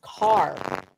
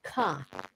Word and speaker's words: car: When I say that whenever it is written, it is pronounced. If you see the word car, it's car, not ka.